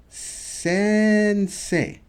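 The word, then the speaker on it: 先生: Sensei.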